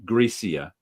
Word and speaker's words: Gracia: No, the C is pronounced like a th because it's Spanish.